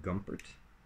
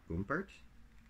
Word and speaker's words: Gumpert: Company called Gumpert, or Gumpert, depending on how good your German pronunciation is.